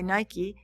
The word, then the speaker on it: Nike: to from Athens to the Acropolis um Nik pronounced uh NE k y Nike Nik the Temple of Athena Nik literally means